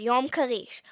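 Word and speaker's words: יום כריש: day otherwise known as yam karish which is how you say shark Day in Hebrew more on that soon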